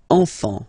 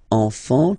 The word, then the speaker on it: enfant: Don't pronounce the T. You don't pronounce the S.